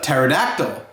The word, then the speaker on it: pterodactyl: that's right it's a pterodactyl and what letter does pterodactyl sound like it starts with two right right it sounds like it starts with the teeth but what letter does it really start with that's right a